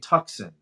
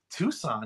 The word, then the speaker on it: Tucson: it's a Hyundai tuckson I go tuckson do you mean Tucson yeah she was Tucson is that how you say it there she goes what's a Tucson I'm like seriously it's a city in Arizona it's right next to